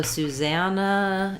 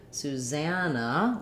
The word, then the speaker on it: Susanna: name susanna um so susannah is a little bit odd because we have two s's um and in the name susan we have su zun and in with first syllable stress but in susanna we stress in the middle syllable za so it sounds like suzanne no so thinking about that like sue zab black cat vow and no susanna um other places they